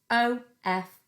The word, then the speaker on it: of: of o f of it's a tricky word because it sounds like it should be spelled o v but it isn't it's spelled o f and in this word the f letter makes a v sound so that's why it's